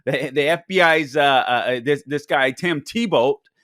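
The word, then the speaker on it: Thibault: The FBI's this guy Tim Tebow, not like our Tim Tebow. I guess the T is silent in his name, but it isn't the athlete, the Christian whom I love.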